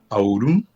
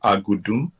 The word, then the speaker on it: Audum: So my full name is Audum. So that's the pronunciation. Some people call it Agudum, but Audum is the full name.